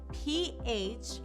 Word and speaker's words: phase: phase is spelled p-h-a-s-e but that s is pronounced like a z phase great job I